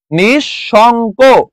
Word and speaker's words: নিঃশঙ্ক: নিঃশঙ্ক। শব্দের প্রমিত উচ্চারণ কোনটি?